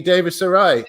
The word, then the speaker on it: Davies-Arai: This is Davies Sarai.